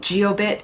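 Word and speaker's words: Jiobit: device I recommend is called geobit it's j i o bit T and I'll spell it out here for you but geobit is a little tracking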